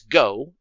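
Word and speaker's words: 五: Back in Japan, though, the word for 5 is pronounced as go, and 9 is Q, which is sometimes lazily, or by children, pronounced ku.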